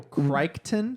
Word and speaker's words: Crichton: Michael Crichton. Crichton. Or Crichton, but he's got a Crichton? So That's the close. Whatever. Michael Crichton, but I think the CH is silent in the middle of his name according to the pronunciation guide on Wikipedia.